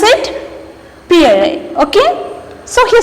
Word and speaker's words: Pierre: How to pronounce it? Pierre.